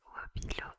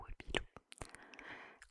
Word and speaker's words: Wopilo: Donc Wopilo a été créé en 2017. Le nom de la marque se prononce comme ça s'écrit un Wopilo. Wopilo.